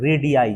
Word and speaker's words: radii: रेडियस का जो plural होगा ये होता है रेडियाई। ठीक है, क्या पढ़ते हैं लोग, रेडियाई, RADII।